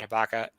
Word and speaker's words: Hiipakka: So with that, absolutely thrilled to introduce Brigadier General Hiipakka. Thank you, sir, for joining us. I'm happy to be here. Thanks for the opportunity. It's pronounced Hiipakka, by the way, but don't worry about, and we just talked about that.